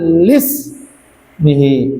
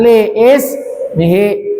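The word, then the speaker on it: لاسمه: Aba'ahul amjada sawnal lismihi. Ingat lismihi bukan leis mihi.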